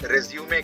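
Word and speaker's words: résumé: बनाना पड़ता है, उस बायोडेटा को इंग्लिश में रिज्यूमे कहते हैं। लेकिन इसी वर्ड का एक और अर्थ होता है, एक और उच्चारण होता है जिसे रिज्यूम पढ़ते हैं, टू स्टार्ट अगेन।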